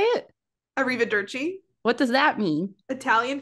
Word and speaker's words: Arrivederci: Arrivederci. What does that mean? Italian for hello or goodbye. Oh. So it's either the first episode. Arrivederci. It's the last episode of the season. Okay. Arrivederci.